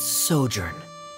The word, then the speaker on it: sojourn: everything clear uh director zosimos how do you pronounce this word let me see Ah that's sojourn it means to stay for a while this